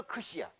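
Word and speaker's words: ξῖ: 그래서 크시야. 크시 여기다 I를 붙여봐. 크시 이 크시라는 이름은 음가를 나타내기도 하는 거야. 왜 크시냐? KS 발음을 동시에 낸다.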